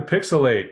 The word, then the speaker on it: PixelHate: Welcome back to PixelHate, where the H is silent, but the hate is loud as shit.